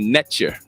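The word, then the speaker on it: netjer: what would happen is Neter would become Netcher, right? Phonetically, it'd be like a TCH, right? Netcher. And I like it because you can understand the English cognate of the same. Netcher, right? By no coincidence sound like nature, correct?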